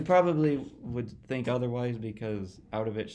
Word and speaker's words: Auttawich: here his name is ovich manwe although it's not pronounced out ofish so how do you